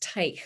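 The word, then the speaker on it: Teich: story of the kurt tyke company and that's spelled t is in tom e-i-c-h but pronounced type with a kind of a hard guttural german sound on the end of the word kurt is pictured here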